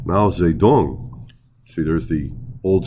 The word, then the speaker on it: Mao Zedong: always said it wrong we always said mousy tung i don't know if it was the way giles dictionary or the pinyin dictionary i don't remember i don't know it was richard nixon in 1972. but i always say it wrong it's mousy mao zedong see there's the old